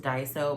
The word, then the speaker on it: Daiso: I want to say it's pronounced Daiso, but it looks like Daiso, D-A-I-S-O.